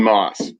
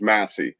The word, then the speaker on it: Masse: It's actually Moss, but everybody says Masse. Masse's sick too, but I like Moss.